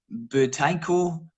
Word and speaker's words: Buteyko: then again it's the Buteyko breathing. Am I saying it right? Oh, yeah.